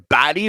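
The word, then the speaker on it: Baty: I like Brett Baddy or Brett Batty, I believe it's pronounced. B- A T Y.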